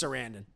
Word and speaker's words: Sarandon: Chris Sarandon. Sorry. I mispronounced his name.